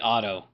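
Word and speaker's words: Odda: Is it how you actually spell his name? But it's pronounced like Otto.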